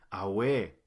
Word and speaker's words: Awe: Nótese que no se pronuncia Awe, porque así significa otra cosa, sino que el acento va en la primera letra.